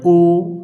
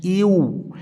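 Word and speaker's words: يُ: কি ভুলটা করে যেমন ইয়া পেশ অনেকে পড়ে উ না এমনটি হবে না এমনটি ভুল তাহলে সঠিক উচ্চারণ কি ইয়া পেশ ইউ ইয়া পেশ ইউ ইংরেজিতে যে একটা ইউ আছে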